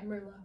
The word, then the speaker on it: Merlot: Yeah, Merlot. Oh, okay, so yeah. you don't pronounce the T.